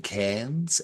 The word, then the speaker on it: Cairnes: Cameron Cairnes and Colin Cairnes. I'm pretty sure you Oh, pronounce it like, yeah, the cap, uh, the capital of far north Queensland, and it's written by them as well.